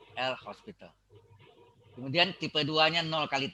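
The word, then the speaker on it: L'Hôpital: dalil l Hospital ingat Hospital tulisannya tidak pakai S tapi pakai topi o-nya bacanya host ya l Hospital kemudian tipe duanya nol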